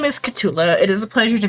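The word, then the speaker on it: K'tulah: I know I said it wrong about my my name is Cula.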